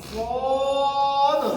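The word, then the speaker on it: ص: সকলে একসাথে বলেন এটা সিটি দিয়ে আওয়াজ হবে, লাস্ট একটা ধাক্কাকে উঠে আসবে, আওয়াজটা মোটা হবে সদ।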